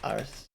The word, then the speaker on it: Arce: I don't know how to pronounce that either. With 55% of the votes. Arce.